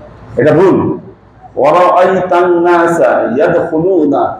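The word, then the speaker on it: يدخلون: ওয়া রাআইতান নাসা ইয়াদখুলুনা ফি দীনিল্লাহি আফওয়াজা, এটা রাইট। আপনি যদি বলেন সায়াদখুলুনা, কি এখানে আপনার ভুল হবে।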